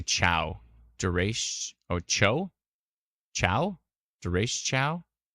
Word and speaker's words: derecho: Duration. Oh, cho? Chow? Duration chow? I've always pronounced it Dureco. No, it's Duratio.